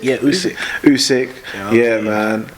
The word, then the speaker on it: Usyk: klitschko brothers yeah um usic how do you pronounce her name is it usyk yeah usyk yeah man like i i personally just think